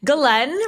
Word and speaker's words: Ghislaine: I'm going to pronounce it wrong, Ghislaine Maxwell for years now, haven't you? That's pretty close. It's Ghislaine, but yes, if you want to say it the French way.